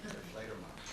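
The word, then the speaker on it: Die Fledermaus: Deflator Mouse.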